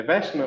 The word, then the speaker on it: Westman: É Westman a pronúncia? Isso mesmo.